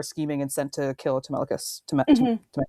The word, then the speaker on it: Telemachus: Where in the scene, there's like the guys who are scheming and sent to kill Telemachus. Telemachus. I said it right the first time. Okay. Yes, Telemachus.